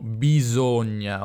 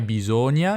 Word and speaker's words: bisogna: sud saprete già che al nord noi diciamo bisogna ovvero la s tra due vocali è una mentre al sud è una bisogna anche se qualcuno non